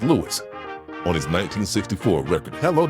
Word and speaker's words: Louis: Louis pronounced his own name as Louis. On his 1964 record Hello Dolly, he sings this is Louis Dolly.